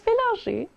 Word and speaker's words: Bélanger: Well, there's no accent, but it's a French name, so I But figure...